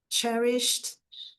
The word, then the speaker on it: cherished: cherished treasures, então cherish, cherish ed eu aqui só tenho um sonzinho de d, tá, não tem o som do e, então cherished, cherished, cherished fica mais rápido um som de t, cherished, cherished her most,